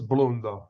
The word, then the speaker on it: Blundo: as long as i have here am i pronouncing it correctly is your client mr blundo it is bloom though okay good i don't know how he wants